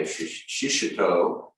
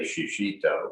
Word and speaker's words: shishito: a pepper like a shishito which i've learned to pronounce properly i used to say shishito but it's shishito japanese pepper which is often